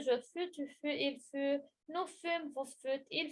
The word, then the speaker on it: fut: fut avec T. Je ne prononce pas le T. Il Oui. fut.